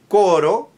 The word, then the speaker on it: coro: You can have koro meaning a choir or chorus and cororo which means I run. So the difference between koro flip and koro has to be clear.